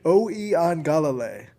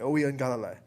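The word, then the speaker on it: Uiagalelei: Oeangalale is how you pronounce that name, if I am looking at their program the correct way. Oeangalale.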